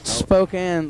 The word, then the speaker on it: Spokane: Spokane, like in Spokane, is that how you say it?